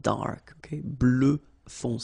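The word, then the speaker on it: bleue: feminine form GRE blue blue so same thing that we had for Noir you just add this at the end but then you don't pronounce it blue blue all right so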